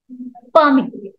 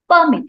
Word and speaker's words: permit: is changed let's see permit permit if it is noun we give stress on first syllable but if it is ver we give stress on second syllable okay so if it